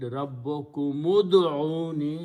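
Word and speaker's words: ربكم ادعوني: Now when you are reading together, then you read Rabbukum ud'uni. You don't pronounce this alif in the middle.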